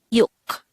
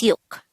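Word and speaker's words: 육: Next, the SINO-KOREAN version of number 6 is yuk. Again, it's yuk. Just like numbers 1 to 5 of the SINO-KOREAN numbers, this is just composed of one syllable.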